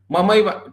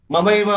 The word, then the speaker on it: ममैव: Okay, now the pronunciation is like mamaiva. ठीक है. mamaiva amsho jiva loke jiva bhuta sanatana.